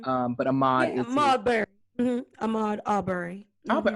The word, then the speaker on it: Ahmaud: I said it right. Ahmaud is right.